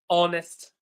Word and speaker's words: honest: Honest, he wrote an H that I did not hear.